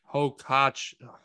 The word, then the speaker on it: Hoch: tweet from Brian Hoch, never will be able to say his name right. Hoch. It's Hoch.